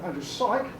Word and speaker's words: Syk: And the historian Andrew Syke, that's how he pronounces his name, has come up with